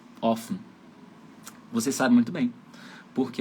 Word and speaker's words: offen: Vogal antes de consoante dupla, a vogal é aberta e curta.